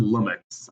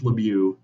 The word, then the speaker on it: Lemieux: Her last name is pronounced Lemieux. It's French. It's not Lumix. I know it ends with an X, but it's Lemieux.